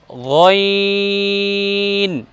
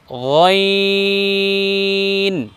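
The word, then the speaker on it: غين: দ্বিতীয়টা উচ্চারণ করব গইন। আবার বলুন গইন।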